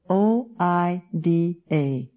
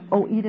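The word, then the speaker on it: οἶδα: Now, the Greek word for this kind of knowledge is oida, o i d a. Again, probably Greek scholars would die if they heard my pronunciation of some of these Greek words, but it's oida, you pronounce it the way you want to do it.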